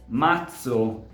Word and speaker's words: mazzo: If words such as "mazzo", "pezzo", "azione", or even own name, "Lorenzo", need to be pronounced with the voiceless variant, so /ts/, there are other words such as, for example, "mezzo", or "bazzecole", that have to be pronounced with their voiced variant so /dz/.